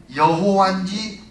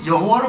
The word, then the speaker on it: 여호와: 옛날 전부 여호와로 불렀거든요 근데 왜 그랬냐면 성경을 읽다가 여호와 야훼이 히브리어가 나오면 가서 목욕을 한번 하고 와서 그 말을 읽는 거예요 그리고 읽을 때 야외 여호와께 발음을 안 하고 아도나이 이렇게 나의 주님 이렇게 돌렸어요 그래가지고 발음을 잊어버린 거예요 히브리어는 모음이 없어요 그래서 요즘에 현대 히브리어에이 점을 찍어서 모음을 만드는지 자음만 자음만 써서 했기 때문에 발음을 잊어버리고 만 거예요 그래서 여호와가 만약 야훼가마냐